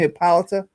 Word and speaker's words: Hippolyta: That's how you pronounce her name, Hippolyta. I'm not sure how to pronounce her name. I think it's Hippolyta.